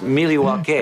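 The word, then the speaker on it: Milwaukee: Mr scream actually it's pronounced miliwaki Greg gets it I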